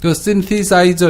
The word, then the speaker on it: synthesizer: 원래 TH가요, 스 발음 나서 신디사이저 이렇게 해야 되는데요. 저도 잘 안 됩니다. 이 TH 이 부분에 이 부분은요, 네. 노타 이런 뜻을 갖고 있어요. synthesizer 이렇게 하면은 함께 놓는 것 이런 뜻이지 않습니까?